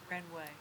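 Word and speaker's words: Wrenway: n w a y renway I have to spell it because the W's silent okay go ahead sir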